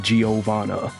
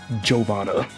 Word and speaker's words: Giovanna: it's like yeah and you're probably still walking around saying giovanna it's jovana there is a lot